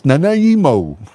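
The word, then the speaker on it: Nanaimo: West Vancouver but it's not West Vancouver it's Nimo British Columbia man he's in Canada Oh Canada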